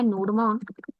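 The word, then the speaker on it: nodemon: नोडमैन, नोडमॉन, यहाँ पर ये स्पेलिंग है इसकी, npm install global -G नोडमॉन, enter कर दो।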